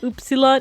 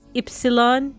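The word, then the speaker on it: ύψιλον: So we have it's not upsilon, it's ypsilon. Ypsilon.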